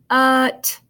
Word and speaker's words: what: But the A doesn't sound like an A, it sounds like a U. So we have what? What? I'm going to draw an arrow and I'm going to change this A to a short U sound. And that's just how it sounds.